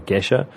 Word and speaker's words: Geisha: This is a 5% milk stout that has been brewed with geisha coffee. It's Ethiopian coffee from the town of Geisha, or Gesha, if you want to. It's good. Both pronunciations are correct.